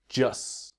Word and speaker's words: just: Now, this is a really important point about the pronunciation, about the T in just. When we speak quickly, it will become silent.